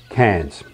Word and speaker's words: Cairns: Remember, written like this, but pronounced Cairns.